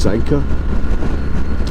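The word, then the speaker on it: Sanquhar: is its name so it's spelled s a n q u h a r pronounced Sanka and I think the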